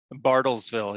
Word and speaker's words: Bartlesville: that same area uh what is it uh bartelville how do you say that bartlesville yeah bartlesville oklahoma yeah they've got uh they've